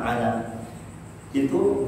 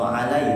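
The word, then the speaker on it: على: Ya, di situ ada kata ila, ala. itu huruf terakhirnya bukan ya, tetapi alif. Maka membacanya bukan ilai atau alai, tetapi ila panjang, ala panjang.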